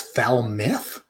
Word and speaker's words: Falmouth: you'll use a why you never ever use an ou and expect people to pronounce it right f-a-l-m-o-u-t-h is foul myth i think that someone